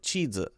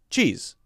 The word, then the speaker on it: cheese: Cheese. Cheese. Cheese. Also notice the different Z sound. That S makes a Z sound.